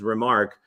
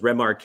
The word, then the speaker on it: Remarque: Like The dude was French. Like, Yeah. he was French. You're right. yeah, like so his last name is Remarque, but I thought it was Remarque.